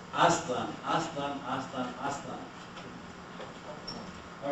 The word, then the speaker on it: Aztlan: Aztlan is the Nahuatl one, right? I want to join my campaign about all the mechistas. And it's pronounced Aztlan, Aztlan, Aztlan, Aztlan.